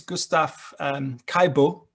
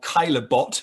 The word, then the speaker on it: Caillebotte: So there's also a work by, I forget his first name, I think it's Gustave Caillebotte, or Caillebotte, if you don't want to pronounce it properly.